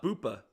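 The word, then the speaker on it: Boopa: Um how do you spell it? What's the ticker? Uh B O O P A. Uh, Bupa.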